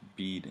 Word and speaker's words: Bead: My name pronounced bead, like around the neck.